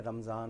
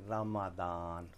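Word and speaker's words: رمضان: ये जो उर्दू में ज़ुआद होती है अरबी में इसको दाल की तरह पढ़ते हैं। अच्छा। तो ये बच्चे भी याद कर लें, रमज़ान नहीं रमादान।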